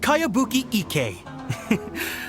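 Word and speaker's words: Kayabuki Ikkei: It's pronounced Kayabuki Ike.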